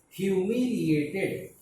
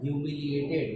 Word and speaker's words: humiliated: Next word is humiliated. HUMI, humiliated, ATED. Humiliated. Now we need to divide into small parts so that we can learn it easily. Hue. Here we pronounce it like hue, not who.